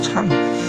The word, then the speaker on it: 常: 华常演，所以郑华演唱应该读作唱，不是藏哦，因为有